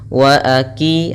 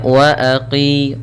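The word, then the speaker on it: وأقيموا: 'qi' selama dua ketukan, dan berhati-hatilah agar tidak menggantinya dengan kaf, wa aki. Ah, itu salah, seharusnya wa aqi, huruf qof di sini lebih tebal.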